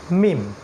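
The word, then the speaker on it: ميم: সেকেন্ডটা শিখেছিলাম সেটা হল মিম। মিম। এটা ঠোটের একটু বাইরের পার্ট থেকে উচ্চারণ করতে হবে। মিম।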